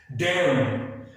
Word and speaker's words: damn: Example देखते हैं डैम, DAMN, यहां पर N आ रहा है M के बाद, N से पहले यहां पर M है, तो यहां पर हम इसको पढ़ते हैं डैम, डैम पढ़ा जाता है इसे, इसकी सही प्रोनाउंसिएशन है डैम।